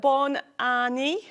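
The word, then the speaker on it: Bonne année: wonder how you say it in French it's Bor Anie yes know French then oh she's she speaks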